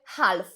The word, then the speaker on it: half: numer jeden to pół tam są cztery litery No i My czytamy 4 litery i mówimy half A co tam się